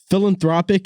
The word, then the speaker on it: philanthropic: word dude philanthropy close philanthropic philanthropic is how you say it yeah you were